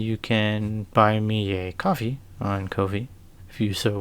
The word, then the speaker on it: Ko-fi: can buy me a coffee on Ko-fi, if you so wish. I know it's probably supposed to be pronounced coffee, but that just doesn't look like the word coffee to me.